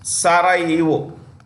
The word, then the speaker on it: Sarajevo: Sarajevo. The J is silent.